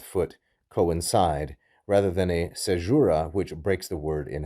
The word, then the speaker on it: caesura: diaeresis, it is instead a caesura, or a caesura, some pronounce it that way.